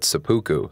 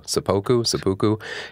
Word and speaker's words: seppuku: what I did find and I think I'm pronouncing this right seppuku sepoku that is the Japanese um a situation or